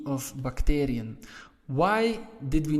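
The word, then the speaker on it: bacterie: the last e of bacterium why did we not add e n well bacteri so as you can see the stress is on the a part of bacterium that is why we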